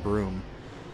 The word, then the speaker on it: Brume: now this is the broom it spelled BR um II but it's pronounced broom it just means mr.